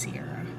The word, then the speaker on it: Sierra: But there's a place in Brazil spelled exactly like my name, but they pronounce it Chara. My name's Sierra.